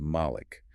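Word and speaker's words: Mālik: In the reading known as halves, it is recited as Malik with a long a sound.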